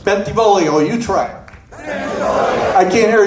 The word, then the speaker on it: Bentivolio: pronounce my name correctly you gotta sing it when you say it bentivolio you try I can't